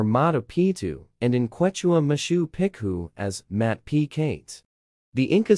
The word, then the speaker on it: Machu Picchu: In reference to the site's name, for most English or Spanish speakers, the first C in Picchu is silent. In English, the name is pronounced Mtapitu Machu Picchu or Mtapictu Machu Picchu.